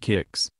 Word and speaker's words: KX: in and out of k-x pronounced kicks the exclusive Chelsea gym